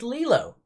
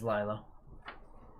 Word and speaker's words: Lilo: film lilo and stitch it is lilo i'd say because i know you pronounce it as lila well no because she's not flat out she's she's upwards number eight oh this